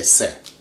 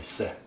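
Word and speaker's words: ث: Arab, they say fa, almost like English think, I think. They say, I think, tha. Tha is this. But Persians simply say se. They don't pronounce it any other way, se.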